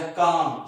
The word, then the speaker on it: calm: My mother is so mild या काम, CALM, L silent है इसके अंदर।